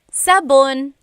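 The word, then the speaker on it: sabon: Soap in Tagalog is Sabun.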